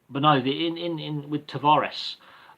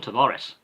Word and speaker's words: Tavares: It's a Mediterranean name. It is Italian based with a hint of Spanish and French in there. But it's John Tavares. Really, it's an Italian-Spanish name.